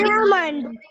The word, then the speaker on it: almond: The letter L is silent.